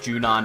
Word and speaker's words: Junon: Yeah, Junion. Well, I think it's actually pronounced Junon, but I've always called it Junion.